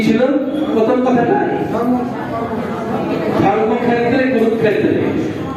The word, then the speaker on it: ধর্মক্ষেত্রে: ধর্মক্ষেত্রে কুরুক্ষেত্রে। ওটা সংস্কৃতে যখন উচ্চারণ হয় তখন ওটা ফিওটা উচ্চারণ হয় ক যুক্ত পেটকাটা মধ্যস্বর মধ্যস্বর। ধর্মাক্স ক্ষেত্রে সংস্কৃত উচ্চারণ করতে হয় ধর্মাক্স ক্ষেত্রে।